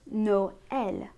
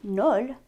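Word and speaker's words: Noël: examples are the words no el noel christmas we wouldn't say null we which means naive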